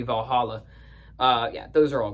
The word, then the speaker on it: Valhalla: The lawmaker, Valhalla, that's how they say it in the song even though it should be Valhalla.